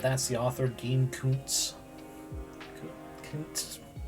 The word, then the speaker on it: Koontz: Koontz. I have difficulty pronouncing TZ combo like that.